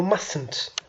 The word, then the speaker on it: mustn't: هذيك T ما خصناش نطقوها بزاف. It's like you mustn't.